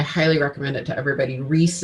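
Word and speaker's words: Ries: recommend it to everybody reese is spelled r-i-e-s and so this is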